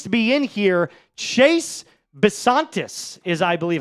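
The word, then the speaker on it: Bisontis: Chase Basantis is, I believe, how you pronounce this.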